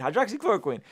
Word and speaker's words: hydroxychloroquine: The evidence, check this out, the evidence does not apply to the use of hydroxychloroquine, that's how you say it, hydroxychloroquine, for preventing COVID-19 infections or treating non-hospitalized patients.